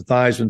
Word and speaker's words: Theismann: But we think just by changing the pronunciation for your last name from Theismann to Theismann to rhyme with Heisman, we believe we can get you that trophy.